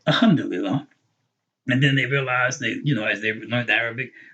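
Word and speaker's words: الحمد لله: Some people were saying Alhamdulillah. And then they realized they, as they learned Arabic, oh, there's a lam, that's Alhamdulillah. Or someone corrected it for us and told us pronounce the lam, right?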